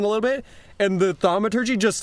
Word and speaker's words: thaumaturgy: Jingus Kringus pronounces it thaumaturgy.